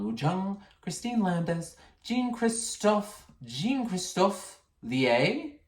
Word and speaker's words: Lier: Sanchez, Gerard Brady, Cynthia Jill French, Chan Woo Jung, Christine Landis, Jean-Christophe Lier, spelled like lie, but I'm sensing French.